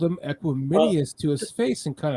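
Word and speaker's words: Equanimeous: I literally thought his name is pronounced Equiminius. That's funny. But then since then, I've heard everyone starting to say Equinemius, and I'm like, okay, I must have been right, or he's finally corrected everyone to make it sound correctly,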